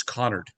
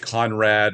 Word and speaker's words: Connard: My last name is Connard. That's what I thought. Connard. Well, then a lot of people get Conrad or Canard. Canard is the most.